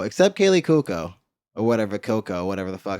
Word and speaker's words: Cuoco: Or whatever, Coco, whatever the fuck. How you say her name? Cuoco.